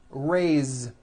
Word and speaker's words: raise: let's do some verbs raise meaning like to raise my hand now this word is a bit unusual because even though it is spelled with an S it's pronounced with a voice Z raise so we say